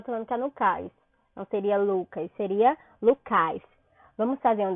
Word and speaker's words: Lucas: Qual a sílaba tônica de Lucas? Eu digo Lucas. Então, o Lu é a sílaba mais forte do nome Lucas.